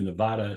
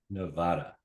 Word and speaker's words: Nevada: Perry and worked with the Nevada Supreme Court Justice Michael Cherry.